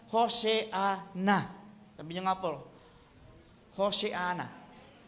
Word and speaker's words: Hosanna: Pronounce Hoseana.